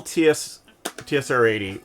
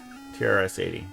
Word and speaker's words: TRS-80: But it, The original TSR-80 was nope. It's not D&D. TRS-80. TRS. I don't know why I'm saying it wrong suddenly. TRS-80.